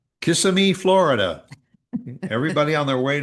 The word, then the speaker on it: Kissimmee: Kissimmee, Florida Everybody on their way to Disney wants to stop in Kissimmee. And I would say Kissimmee.